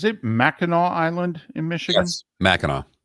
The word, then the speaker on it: Mackinac: Mackinac Island in Michigan Mackinac so even though it's spelled akanak Mackinac it's Mackinac why are you going